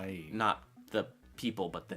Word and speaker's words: Nighy: Bill Nighy, is that how you say his name? Yes. Is just awesome, and I would love to see that guy. Not Bill Nye. Not Bill Nye the Science Guy, No.